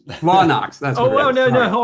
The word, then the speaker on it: Blawnox: And so this, sorry, Kevin, Blawnox. Blawnox. That's Oh, what it well, is. no, hold on. You got to say it like a Pittsburgher. It's Blawnox.